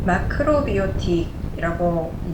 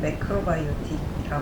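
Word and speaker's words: macrobiotic: 마크로비오틱 제가 일본식 발음을 하고 있는데요. 이제 영어식 발음은 매크로바이오틱 하겠지요.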